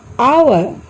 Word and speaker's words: hour: Hour, honor, honest, whistle, echo, rhyme, rhythm. তোমালোকে বাৰু অনুমান কৰিব পাৰিছানে এই শব্দবিলাকত কোনটো আখৰৰ উচ্চাৰণ উজ্জ হৈ আছে? Yes, in every word H is silent.